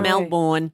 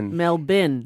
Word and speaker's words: Melbourne: That's what Americans say. I'm going to Melbourne. Melbour Melbin.